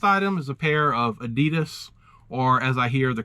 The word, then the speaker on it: Adidas: The last item is a pair of Adidas or as I hear the correct pronunciation is Adidas Niza 101 Dalmatian platform shoes.